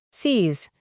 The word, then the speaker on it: sees: Añadimos una S y la pronunciación es sees.